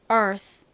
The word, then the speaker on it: Earth: 오게 되면 소리가 약하게나요 바람 빠지듯이 소리가 나서 Earth Earth 이렇게 거의 스에 가까운 소리가납니다 원래 th 발음할 때는 혀를 이빨 사이에 물었다가 빼면서 발음을